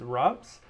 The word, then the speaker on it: Reims: Today, we're going to uh Ronz uh also pronounced if you are uh American Rees, but it's uh the French pronunciation is Robs.